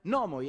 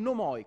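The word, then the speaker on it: νόμοι: Nomos è una parola parossitona, quindi si pronuncia nomos, e anche al plurale si sarebbe dovuto pronunciare nomoi e non nomoi, come invece ho sentito dire 4-5 volte.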